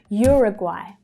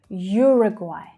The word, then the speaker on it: Uruguay: Uruguay. Uruguay. Okay, so you can hear at the end there that AI is pronounced as I, like by.